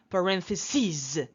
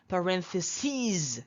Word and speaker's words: parentheses: let's see analysis analysis be careful not analysis be careful because these are foreign prels okay not analysis not basis here not crisis but EAS they are foreign plurals foreign nouns analysis analysis basis basis